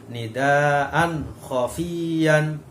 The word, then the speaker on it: nidaan khofiyan: Nah, di situ ada tanwin bertemu dengan kho, maka cara membacanya harus jelas, ya. Nidaan khofiyan. Nah, bukan nidaan khofiyan, bukan nidaan khofiyan. Nah, harus jelas, ya, karena namanya idhar.